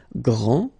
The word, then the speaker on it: grand: This final D is not pronounced. Okay, so grand, and then the feminine form, grande. Okay, so you put this E, and then you get the sound D, D, grande. Okay, il est grand, elle est grande.